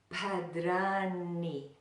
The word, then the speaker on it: Bhadrāṇi: pad did Arnie now there are a couple tricky things in that word we have the BH the ha sound at the beginning we have the duh duh duh where we put the tongue on the back of the front teeth and pull it back but yeah but that